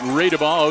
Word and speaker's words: Radabaugh: We pronounce it Radeball, okay, or Max Radeball, 35 yards into the end zone, touchdown Bombers.